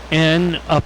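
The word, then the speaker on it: N'ICE: drops that were like N''ICE, and it's, you pronounce it nice, and it was like this penguin.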